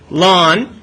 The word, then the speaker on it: ln: this all right hey what's Ln how do I pronounce it lon what's the base for